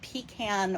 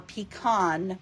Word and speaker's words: pecan: Moonlight pebbled path and pecan or pecan pie depending on how you say it um so you'll need